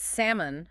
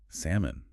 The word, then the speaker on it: salmon: it salmon or salmon it's salmon that L is silent salmon wow I always feel